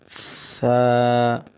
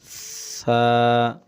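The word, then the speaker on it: ث: বলতেছি কিন্তু আসলে না এটা নরম হরফ নরম করেই বলতেছি এখানে শোনা যাচ্ছে হয়তো শক্ত খেয়াল করুন সা আপনি বারংবার পড়তে হবে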